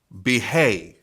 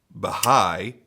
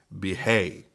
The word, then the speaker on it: Bihai: front flipper from best tech this is the behave at least that's the the best way I've found to pronounce it I have looked up the pronunciation on Google more than once I wanted to say uh Baha'i but apparently that is not correct it is